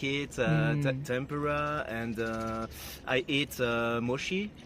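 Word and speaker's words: もち: Tempura, and I eat mochi. It's very good. Mushi?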